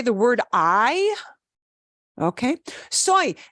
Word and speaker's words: soy: the word I okay soy that looks like soy sauce and it's pronounced the same way as soy sauce soy soy means